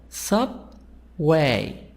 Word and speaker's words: subway: part number two example sub way this word two parts sub way two parts two syllables the stress on part number one subway trap traffic this